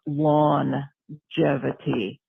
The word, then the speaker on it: longevity: It sounds longevity. So the G is only pronounced once, but it sounds more like a J.